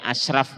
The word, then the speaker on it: Ashraf: ASYRAF bacanya Ashraf monggo lah. Tapi bacanya tebel.